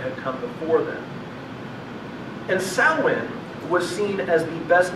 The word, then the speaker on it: Samhain: If you ever see it, it looks like it's Samhain. It's pronounced Samhain.